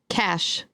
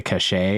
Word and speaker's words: cache: I have one okay cash like c a c h e cash cash oh people say cachet that